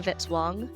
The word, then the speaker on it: Vitzwong: Music by Kevin Vitzwong rhymes with hit song.